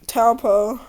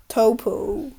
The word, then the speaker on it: Taupo: Let's do like Taupo. Now I always say it wrong. Topo.